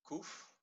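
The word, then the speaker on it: qof: the dot beneath it the koof is the queue but it's pronounced as a k in king but you transcribe it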